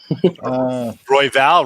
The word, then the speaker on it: Royval: Royval rhymes with Vidal.